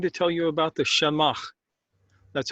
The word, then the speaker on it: shemagh: today we're going to tell you about the shamash that's how it's actually pronounced Shama it's a GHI Jamaa and this